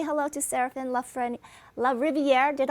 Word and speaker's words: Serafin: world but i want to say hello to seraphin love friend la riviere did i pronounce it right seraphin yep la riviera that's just perfect and right